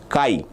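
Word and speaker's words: chi: The pronunciation for this is Kai.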